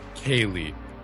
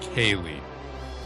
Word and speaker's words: Quaeleigh: Oh my god, Kaylee, but it's spelled Quaeleigh. Kaylee.